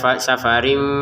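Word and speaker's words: سفر: Safarin dibaca safarim karena ada fanya dibaca samar.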